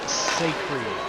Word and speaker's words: Sacri: So, I have been pronouncing it wrong the entire time. Goal to Paxton Sacri. Sacred. Got it.